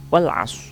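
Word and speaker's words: وَالْعَصْرِ: Cara membacanya dibaca jelas. Wal asr.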